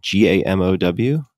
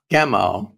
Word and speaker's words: Gamow: a name, and I don't know how to pronounce this last name. Is it George Gamow, G-A-M-O-W? Gamow, right.